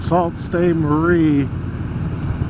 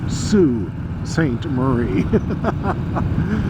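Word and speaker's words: Sault Ste. Marie: and I also found out that I've been pronouncing salt stay Marie wrong when I was talking with the guy in the car he says it's Sue St Marie so they abbreviate Saint differently than we do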